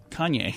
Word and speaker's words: Kanye: Kanye? Kanye.